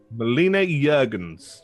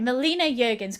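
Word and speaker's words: Melina Juergensen: Now, I can never pronounce her name, so you pronounce it properly for me. Melina Jurgens. Right, Melina Jurgens.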